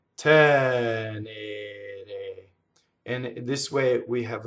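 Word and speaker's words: tenere: So I hear a lot of times people double this N, and it's wrong, right? Tɛnere. So remember from the first word, Frondi, this one is doubled because you hold the N in phonation. Now, if I were to hold the N in phonation in tɛnere, that would happen, you see? Double N. That's wrong. Tɛnere.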